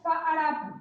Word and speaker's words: Farapu: El nombre correcto de este básico se pronuncia Farapu. En México, pues por flojas y así, es Farapu, pero es Farapu, ¿sí? ¿Sale? Nomás para que sepan que lo correcto es Farapu, ¿sale?